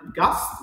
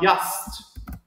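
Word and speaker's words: Gast: دونك داس جي besonders am Wort Anfang يعني هذاك الحرف G خاصة في البداية ديال الجملة. spricht man meistens wie J oder spricht man meistens wie J der Ich laut klingt immer wie Sch und es heißt nicht das und was sondern dat und wat. Donc معناتها ان هذاك جي ما كينطقوش هما جي كينطقو ي بحال دابا مثلا غاست ما كينطقوش غاست كينطقوها ياست بحال هكا.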